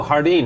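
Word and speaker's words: jardín: I don't know m Hardeen I don't think sardine yeah I know Hardeen is how you say it in Spanish and it's a Spanish word that means garden well today's your day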